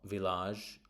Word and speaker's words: village: Now confusingly is not village or even though it looks like it should be a is village. So I I village.